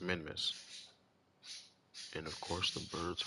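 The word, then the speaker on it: Minmus: then we're going to get to minimus or well, let me let me word it correctly. Pronounce. All right. So, we're going to get to the month. Then, we're going to get to Minmiss.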